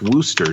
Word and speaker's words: Worcester: worship uh or wooster is actually it's actually pronounced wooster did you know that i do now okay